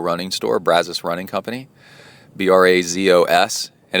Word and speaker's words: Brazos: And it's one of those, Brazos is one of those words that if you're a local, you say it correctly, and you can tell if somebody's not a local because they say Brazos.